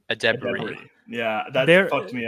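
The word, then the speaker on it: Edebiri: Io's last name is pronounced Adebari.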